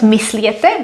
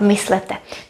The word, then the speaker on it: myslete: Myslete, so not mysliete, but myslete. In Czech, you cannot have this combination.